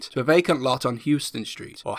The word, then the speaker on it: Houston Street: a vacant lot on houston street or houston street as it is apparently pronounced after a dutch immigrant of the same name there are a number